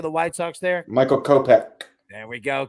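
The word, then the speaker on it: Kopech: half hits runs in RBIs how do you pronounce my man's name pitching for the White Sox there Michael kopeck there we go kopeck look we always say he sounds like an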